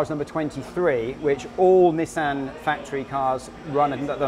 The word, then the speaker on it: Nissan: reason for that is in japanese the number two is pronounced knee and the number three is pronounced sand so okay nissan so this is knee